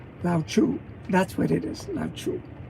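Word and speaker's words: Lao: okay this is how you say his name Lau that's what it is lau lau that's he's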